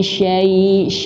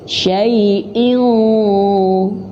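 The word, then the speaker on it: شيء: Kasrah tain bertemu huruf qaf. Hukumnya ikhfa. Nah, maka ikhfa di sini samar. Artinya persiapan ke huruf sesudahnya. Huruf sesudahnya apa? Yaitu huruf qaf. Dan huruf qaf memiliki sifat tebal atau isti'la, maka bacanya harus tebal. Syai'in dan masuk hidung ya, karena gunnah. karena dengung ya. Syai'in, bukan hanya sekedar dengung saja. Syai'in, tapi harus tebal.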